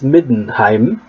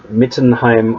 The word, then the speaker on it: Middenheim: coming to mind midnight it is middenheim not mittenheim or something the these are these